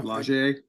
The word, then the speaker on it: Lage: Lage.